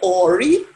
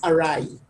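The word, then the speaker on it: awry: he corrected me on and when i said ori he said the word is arai a-w-r-y is spelled ori but it's pronounced arrived and he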